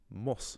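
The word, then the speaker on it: mbus: So if I have let's say the Irish word for a bus is bus and if I'm on the bus I'll say mus rather than bus.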